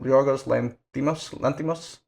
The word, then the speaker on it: Yorgos Lanthimos: What's how do you pronounce his name? Yorgos Lanthimos.